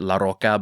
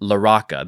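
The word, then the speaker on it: Larocca: I wanted to Latinify it and pronounce it Laroka, but I I watched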